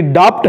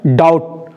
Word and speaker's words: doubt: आप प्रोनाउंसिएशन में पढ़ रहे होंगे, आपको लग रहा होगा कि डाप्ट है, लेकिन वो डाप्ट नहीं है, उसका प्रोनाउंसिएशन होता है डाउट।